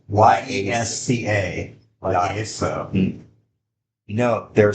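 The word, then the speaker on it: Yesca: Yesa. Y-E-S-C-A. Yesa. No, they're saying it wrong on there. Oh, okay. But you gotta remember, Y is not Yeah, it's like J.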